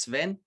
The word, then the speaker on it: Sven: myself so my name's Sven and it's literally pronounced like seven the number and without the first e um but on the